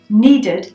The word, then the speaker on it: needed: To make it past, we say, I needed a glass of water when I came home from school. Needed. We pronounce the ud.